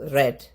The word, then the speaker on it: read: സോ റെഡ്. Spelling same ആണ്, പക്ഷെ ഉച്ചാരണം വ്യത്യസ്തമാണ്.